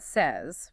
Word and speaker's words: say: Say seems straightforward. Say is easy. One syllable, long A sound, like in day or play. Say.